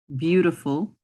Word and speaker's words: beautiful: Beautiful has a lot of vowels in it that you're not pronouncing.